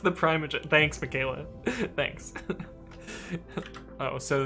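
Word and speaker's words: ThePrimeagen: It's pronounced the Primogen.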